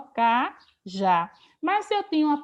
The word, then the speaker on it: cajá: E aqui cajá tem o acento agudo no A, porque é uma palavra oxítona terminada em A. Eu não vou dizer que cajá é monossílabo, porque cajá tem duas sílabas, ó, cajá.